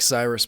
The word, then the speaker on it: Cyrus: It's spelled like Cyrus, pronounced like sea rooster. Just take out the tur.